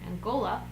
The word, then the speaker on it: Angola: angola i hope that's how you say it angola yeah it is angola i just checked my husband angola um so